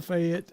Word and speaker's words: Fayette: I mean, it's spelled Fayett, Fayette, but it's really Fayette, F-E-T. Yeah. Fayette, Alabama. say it That's as where if y'all it are was coming. spelled F-E-T. So Yeah, if y'all come in there pronouncing it all correctly, J. Fayette or something, people ain't gonna know what you're talking about.